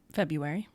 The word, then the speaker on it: February: February. Why is there a fucking R in the middle February?